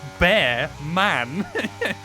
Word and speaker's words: Bearman: how you pronounce it I went no it's literally spelled bear man where did you get